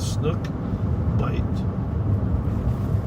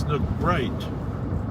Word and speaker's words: Snook Bite: a party and i've i've always mispronounced it as snook bright okay and finally when i figured out it was bite now so i find